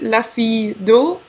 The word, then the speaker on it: La fille d'O: as well but actually the brand you pronounce it lafi do so just Lai do